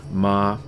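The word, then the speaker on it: mā: So the first tone is a high flat tone, and we got mother for that is the meaning, but it's pronounced ma.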